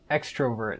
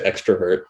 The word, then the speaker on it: extrovert: Is that not how it's pronounced, Josh? It's not I think people extrovert. I think people say extrovert, like just a little, I don't think they emphasize the O so much, Yeah, how embarrassing.